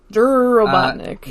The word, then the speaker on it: Robotnik: Robotnik asks the leader he pronounces it dur dur Robotnik that's so great dur